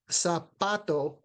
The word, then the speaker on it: zapato: So zapato, the pa part is where the stress is.